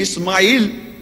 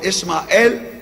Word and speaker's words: Ishmael: and verse 12 he ismail or ishmael that is the biblical pronunciation in english will be a wild